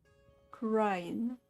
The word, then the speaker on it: Kurain: the kingdom of Kurain. Crying. So you pronounce it.